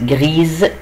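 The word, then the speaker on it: grise: او، زي جري المؤنث جريز ضفت لها او، وخلي بالي ان الاس هنا هنطقها وهنطقها زد لانها بين اتنين دو فويل، عشان كده بقول جريز.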